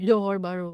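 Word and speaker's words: Johor Bahru: Iyung Johor Baru. Tama ba yung pronunciation? Johor Baru.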